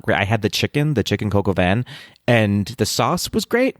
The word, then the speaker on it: coq au vin: Patrick, chicken coq au vin? Okay. I pronounced one little thing wrong and you're going to drag me. You said Coco Van?